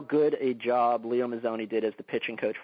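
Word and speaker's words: Mazzone: Am I pronouncing it? Is it Mazone or Mazone? It's Mazone. Yeah.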